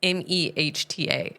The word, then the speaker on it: Mehta: It's Mehta. It looks like Meta.